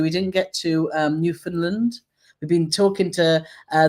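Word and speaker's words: Newfoundland: So, you can't call it New Foundland. It's New Finland. New Finland. If you pronounce all the letters in there, it means you're a silly Billy.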